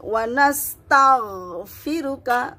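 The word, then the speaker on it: ونستغفرك: ইন্না নাতে টানতে হবে, নাস্তাঈনুকা রিতে টানতে হবে, মাদ আছে, নাস্তাঈনুকা ওয়ানাস্তাগ মুখটা ওপেন হয়ে যাবে, ওয়ানাস্তাগফিরুকা ওয়ানাস্তাগফিরুকা। জি, আপনি যদি তাগ এরকম না করেন তাহলে সঠিকভাবে উচ্চারণ হবে না।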